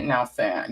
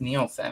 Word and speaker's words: Nielsen: Chelsea Nelson. Nielsen. Is it Nielsen? It's Nielsen. I'm always saying it wrong.